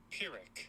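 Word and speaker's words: Pyrrhic: Per How do I pronounce that? Let me see. Pirick.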